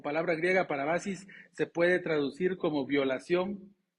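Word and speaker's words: παράβασις: es la palabra griega parabasis creo que la pronunció bien pero si no perdónenme no sé griego pero parece que se se escribe se pronuncia parabasis pero su significado es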